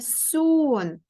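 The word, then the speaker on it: song: сон це пісня дивіться англійською мовою пісня пишеться Ось так с оу ен і звук г г Горіли але під час читання цей звук не читається тому виходить в нас лише сон як ми з вами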